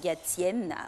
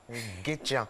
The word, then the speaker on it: Gatien: Alors, Guétian, Briac, Brac, Gatian, Brianne, Flavie, et Gatiane, Gatienne. Voilà, ce sont... On veut le moyen de chocolat. On dit Gatien. Guétian. Mais Gatien...